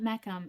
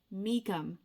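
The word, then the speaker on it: Meacham: Nope, it's not Mechum. I know this now. It's Meikum. I have to retrain my brain because she put out an Instagram post saying how to say her name and I'm pretty sure it's Meikum. Pretty sure.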